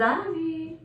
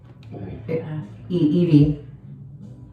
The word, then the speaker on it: Evie: Y'all, this is Ivy. Evie. Excuse me. It's pronounced E-V.